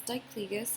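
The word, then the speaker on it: Diclegis: have a patient on it okay so it's dicligas it's spelled d-i-c-l-e-g-i-s it is doxalamine and pyridoxine it's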